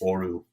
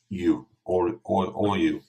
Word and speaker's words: ORU: I joined this platform a few days ago, and I wasn't sure how to pronounce it, so it's ORU, ORU.